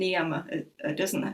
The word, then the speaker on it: Niyama: our Sanskrit pronunciation, and the S I put on sometimes is actually only an English version of it. So Yama and Niyama, the plural is the same.